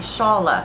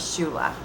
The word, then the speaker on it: Shaula: was given this semester is the shaa star and up until about 20 minutes ago until I watched a short little video clip on YouTube I was pronouncing my star as Shula so I'm glad I got that straightened out before filming um let's